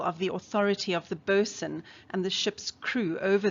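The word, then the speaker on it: boatswain: note the pronunciation here the word might look like boat swain but is pronounced boson the boson's job is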